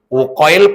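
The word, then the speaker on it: Uqail: Nomor tig Uqoil. Uqoil bin Abi Thalib. Uqoil pakai Qi. Uqoil. U Q A I L UL ya Uil bin Abi Thalib berarti sudah ya geser nomor berapa sekarang?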